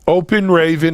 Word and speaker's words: Open Raven: So it's spelled just the way it sounds. Nice and easy. Open Raven, like the bird.